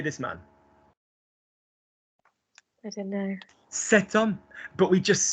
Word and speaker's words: cet homme: Cet homme, but we just spell it.